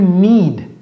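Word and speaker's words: knead: ça ce n'est pas vous dites un Américain did you il va dire ou did you need need tout comme le verbe avoir besoin de quelque chose to need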